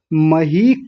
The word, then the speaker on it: मही: मही कृते, बड़ी ई की मात्रा है, लंबा खींचेंगे, मही कृते, कृते नहीं कृते, तो पूरा हो गया।